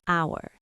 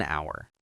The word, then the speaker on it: hour: So, why an hour? Because hour is pronounced our h is silent. So, the first sound is a vowel sound.